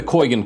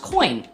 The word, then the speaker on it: Coign: and that's where the coygan card comes in um it's actually pronounced coin the g is silent huh first of all